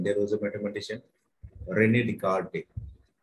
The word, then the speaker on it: Descartes: was a mathematician Rene Descartes right but actually this we pronounce as Rene descarte but the spelling is something like Rene descarte foreign right so because